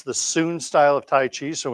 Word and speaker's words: Sun: style it's uh s-u-n it's spelled s-u-n it's pronounced s-double o-n soon lutong was the